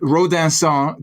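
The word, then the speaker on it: Rodinson: basically hidden uh and ransan to use the fancy FR French pronunciation uh is one of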